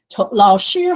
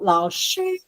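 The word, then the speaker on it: 老师: Okay, 老师好. You see, 老 is second tone, 师 is first tone. 老师好.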